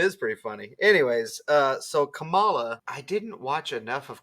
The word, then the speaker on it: Kamala: But the wrestler is Kamala, not Kamala. Kamala versus Kamala versus Kamala Harris. I mean, all the letters. All the letters are pronounced the same. It's just what you stress and what you don't.